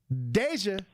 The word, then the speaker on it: Deja: the second time that my name has been pronounced DJ which is so hilarious D um but it's dja yeah it's deja I'm GL tell you